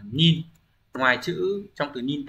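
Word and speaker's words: 忍: Chữ nhẫn sẽ đọc là gì nhỉ? Shinobu âm cơn. Shinobu nhá. Đấy, âm ghép đọc là nin.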